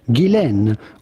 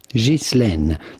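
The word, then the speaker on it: Ghislaine: Now the question is on her first name more than anything which is of French origin and in French it can be pronounced either Gilen or Jane but in British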